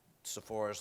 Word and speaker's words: Sephora: so that's I think it's a leading uh Sephora's leading set of products if you and I have to admit before this I didn't know what Sephora stores were but my wife and daughter did